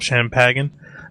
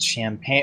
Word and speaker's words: champagne: share this bottle of champagen I mean what is he doing and it's pronounced champagne oh my God there's a